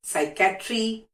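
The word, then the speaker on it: psychiatry: साइकोलॉजी, साइकोलॉजी मैंने नहीं बोला, सो इट्स साइकोलॉजी, साइकैट्री, physics, even PHYSICS is also doesn't pronounce P6, it's physics.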